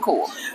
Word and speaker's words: Khaw: Khaw, how do you say it? Core. Khaw. Core.